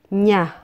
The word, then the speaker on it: niya: the third one is niya nya meaning his or her It also means he or she Please note that we oftentimes pronounce this as nya nya next is natin natin